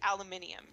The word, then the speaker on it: aluminium: they don't call it aluminum. It's aluminium. It's just a name thing. It's just a like that that one country adopted a certain name for it and another country adopted another name. Wait, they pronounce aluminum alum aluminium. They spell it and pronounce it aluminium.